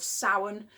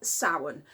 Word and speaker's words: Samhain: video today about the wonderful magical Sabbath of Samhain. Of course, it's spelt Samhain, in case you're wondering what I'm talking about. Yes, so it's my favourite Sabbath. I absolutely love Samhain.